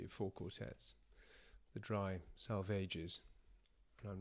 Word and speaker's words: Salvages: The dry salvages. But I'm not being pretentious. It's there's a note here that says salvage needs to rhyme with a sage. So, try salvages.